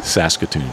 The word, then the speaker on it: Saskatoon: there you go s say it again Saskatoon Saskatoon Saskatoon I've never been to Saskatoon I've been to Prince Albert okay but I've never been to how you say it Saskatoon Saskatoon uh I think that's right I think